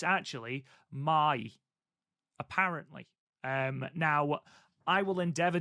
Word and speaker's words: Mai: Cast, someone did note that we've been saying Mai Sakurai's name wrong the entire time. It's actually Mai, apparently.